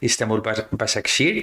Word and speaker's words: İstanbul Başakşehir: And before going into the details of your role running Istanbul Basaksehir, did I pronounce that correctly? Yes, it's perfect actually.